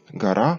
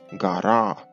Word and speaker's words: garā́ˀ: нашої ери існувало слово «гара», саме так з довгим «а» в кінці закінчення і з твердим приступом в кінці, який забезпечив наголос на останній склад.